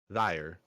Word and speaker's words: Thayire: THAYIRE, but it's pronounced thyre or thyre.